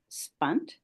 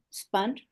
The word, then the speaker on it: Spunt: his name is Howard spunt spunt remind or rhymes with front born born in Montreal